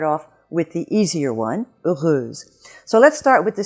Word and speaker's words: heureuse: Whenever you have the spelling S in French between 2 vowels, you are always going to have the sound Z. So it's not heureuse, it's heureuse.